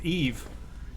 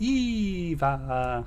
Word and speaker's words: Eve: I told you it was Eve. Despite the fact that he pronounced it Eva.